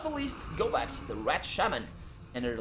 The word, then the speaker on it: Gobat: And last but not the least, Gobat, the rat shaman, and her little rats.